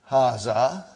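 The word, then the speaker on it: هذا: Haza see it is pronounced like ha. Huh? But this al if is not written. Huh? It is explained in the key also. So it is haz.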